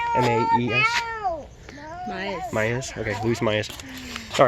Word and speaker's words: Maes: M-A-E-S.